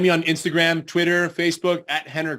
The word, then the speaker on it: Rener: on Instagram Twitter Facebook hener Gracie spelled with an R pronounced with an h and uh check out